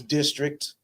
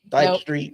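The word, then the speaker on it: DSTRKT: The name of our company is District, but it we spell it D S T R KT.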